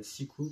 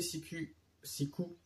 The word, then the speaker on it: Siku: En 2012, un musée Siku, parce que le U se prononce U, enfin le U se prononce OU en allemand.